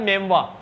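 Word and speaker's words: memoir: तो मत मानना, तुम्हारे पास मोबाइल है ही सही, इसका प्रोनाउंसिएशन होता है मेमवा, मेम ना नहीं कह रहा, मेमवा कह रहा हूं, मेमवा।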